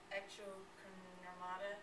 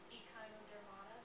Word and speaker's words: Echinodermata: Its scientific name is Lespetarius hisactus, and its phylum is Echinocnermata. I know it's been said before, but apparently I'm losing. How do you say it? Echinodermata. Yeah, Echinodermata. You're I'm sorry. It's a D missing.